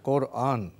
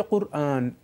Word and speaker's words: কুরআন: 4টি বর্ণের মধ্যে 2টা বর্ণ বাংলা ভাষায় নেই, কাফও বাংলা ভাষায় নেই, রা ও বাংলা ভাষায় নেই।